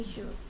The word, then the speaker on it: suit: Swimming suit. 슈트가 아니고 suit. Shoot. Swimming suit. Suit. Suit. Swimming suit. 왜 자꾸 슛이라고 읽는지 모르겠어. 슛은 공차 갖고 슛 할 때 이거나 슛이지. 슛이 아니고 suit.